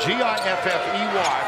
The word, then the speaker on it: Giffey: Spelled G-I-F-F-E-Y, pronounced Giffey.